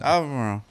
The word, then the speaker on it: Albemarle: Albemarle. Albemarle. Yeah. Albemarle. Just say it like you got a biscuit in your mouth. Yeah. Albemarle. Say it like your mouth's full.